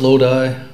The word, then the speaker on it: Lodi: In case you're wondering, it's pronounced Lodi, although that's not always obvious.